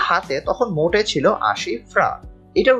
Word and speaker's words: franc: আমার হাতে তখন মোটে ছিল 80 ফ্রাঙ্ক। এটার উচ্চারণ হয়তো অনেকে ফ্রাঙ্কস বলতে পারো, বাট ফ্রেঞ্চ যে মুদ্রা সেটার নাম আগে ছিল ফ্রা, এখন যদিও তারা ইউরো ব্যবহার করে, তবে এটাকে বলা হচ্ছে ফ্রা।